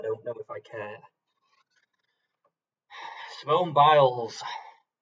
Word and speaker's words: Simone Biles: Simone Biles kind of rhymes with piles.